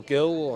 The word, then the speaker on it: Gil: He was Glee or Gill. I can't Brian remember, Hill. Yeah, it's pronounced Hill with a silent G.